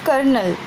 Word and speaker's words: colonel: It is the spelling of Colonel. Pronunciation is different and the spelling is different.